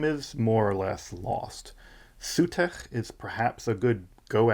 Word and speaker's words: Set: Sutech is perhaps a good go at it, maybe how it would have sounded in Middle Egyptian, though it's preserved as late as in Coptic as Set or Sate, depending on how you pronounce that Ada.